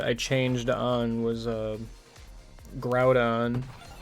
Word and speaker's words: Groudon: changed on was um Groudon cuz I'm pretty sure kid me used to say Garudon. That one's just wrong. Yeah, I know. I thought you were going to be one of those sensible people who used to call it like Groundon.